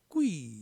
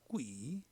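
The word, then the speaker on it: 贵: 귀할 귀, 중국어로는 꾸이 이렇게 발음 되죠. 꾸이, 조개의 폐 보습니다.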